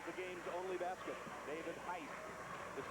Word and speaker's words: Heiss: David Heiss, is spelled H-E-I-S-S.